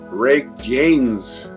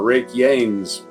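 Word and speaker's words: Reykjanes: have occurred in the rake Janes or rake yain Peninsula if the J is silent the home of the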